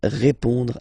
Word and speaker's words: répond: So, final D is not pronounced. You will only have this on nasal sound at the end. Répond.